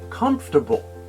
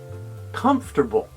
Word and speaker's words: comfortable: the second syllable four however native speakers don't pronounce each syllable for comfortable in fact the pronunciation usually sounds more like this comfortable comfortable try saying it with